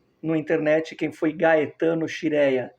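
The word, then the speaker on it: Scirea: Os mais novos, procurem no internet quem foi Gaetano Xireia. escreve-se SC Esquirea, se pronuncia Xrea.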